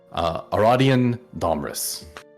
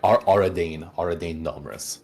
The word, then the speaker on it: Aradane Domrus: Aradian Domris. Where are you getting this fresh up Fresh as lineups, King. Damn. No, it's good, right? Sorry, Aradane Domrus. I pronounced my own name wrong for a second there.